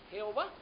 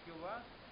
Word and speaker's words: Jehová: Y así resultó la forma latinizada Jehová, de donde viene Jehová, con acento en la A.